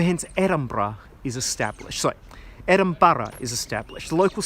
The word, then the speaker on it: Edinburgh: we're not sure where the Arthurian legend exactly started, but the first ever reference was right here, a poem about Edinburgh Castle.